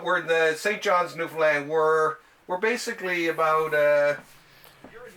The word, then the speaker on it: Newfoundland: Oh, Newfoundland, like understand Newfoundland. Newfoundland. So you don't really say, because it looks like it's spelled Newfoundland, like F-O-U-N-D, right?